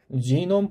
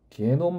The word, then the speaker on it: 지놈: 유전체 사업 그래서 휴먼 지놈 프로젝트. 저는 이게 게놈이라고 읽는 걸 별로 안 좋아해요. 영어식으로 읽는 게 더 낫다라고 보거든요. 유전자가 지인인데 왜 이걸 굳이 게놈 발음이 아마 미국식 발음은 아닌 걸로 알고 있습니다.